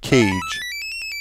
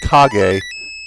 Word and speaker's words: Kage: it The Legend of cage but uh recently in doing some research on a game I found out that it's actually pronounced KAG as per the Japanese name so in the